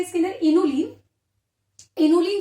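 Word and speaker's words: inulin: इनोलिन, ध्यान रखना इंसुलिन नहीं बोला मैंने, क्या बोला है? इनोलिन।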